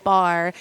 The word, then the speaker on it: barre: that yeah um so I always call it Barry or a bit about Barry I didn't know how to say it's bar I know we get that a lot but it's bar my son's name is